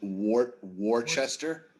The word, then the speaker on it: Worcester: don't know anything about worcester i don't even know how to say it don't want to know anything about worcester worcester worcester it's actually phonetically is spelled wart worchester yeah worcestershire war sister